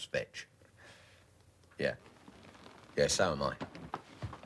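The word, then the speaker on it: Veitch: on the job fetch v-e-i-t-c-h vetch pronounce fetch yeah yeah so am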